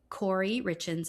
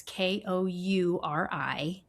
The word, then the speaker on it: Kouri Richins: Kouri Richins. It's Kouri-Richins.